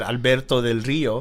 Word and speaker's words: Alberto Del Rio: He is what I wanted Alberto Del Rio to be. See how I said that in American? Good job. I could have said Alberto Del Rio, Uh-huh.